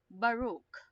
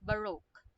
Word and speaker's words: Baroque: therefore we conclude that it is Baruch okay it's not but okay okay not like that okay the pronunciation is Baroque okay the Baroque okay